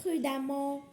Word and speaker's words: prudemment: Alors, et la deuxième information est quand on a E avant deuxième, on prononce A comme femme, comme prudemment et il y a beaucoup.